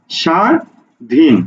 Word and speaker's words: স্বাধীন: শব্দের দিকে একটু তাকাও দেখো প্রথম বর্ণের সাথে যুক্তবর্ণ আছে দন্ত স এর সাথে ব যুক্ত আছে কিন্তু এখানে দেখো তো উচ্চারণ হচ্ছে কি উচ্চারণ হচ্ছে শুধু সা উচ্চারণ হচ্ছে সা ধিন লক্ষ্য করো শুধু কি